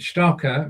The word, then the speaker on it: stärker: It's got an umlaut on there. Earlier on, we didn't have the umlaut, so that was starke. So now we've got stärker.